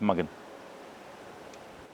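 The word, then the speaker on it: Mugen: do you pronounce it it's mugan officially his way or another YouTube channel actually went and went to Japan and they actually said how is it pronounced and the guy said it's mugging so I'm just saying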